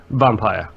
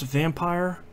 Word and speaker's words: Vampyr: They insist it's pronounced vampire. It's not. Like, I don't want to belabor this point, but in European fiction history, vampires and vampires have been different things. Yep. So I will probably, quote-unquote, accidentally pronounce it correctly, Vampyr, at some point, but apparently... Like I said on Twitter, dude, it will always be Vampyr in my heart. Yeah, they apparently insist that it's pronounced incorrectly like vampire, so I will try